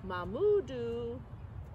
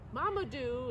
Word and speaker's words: Mamadou: Mamudu. Mamadou is how you say that one, sorry.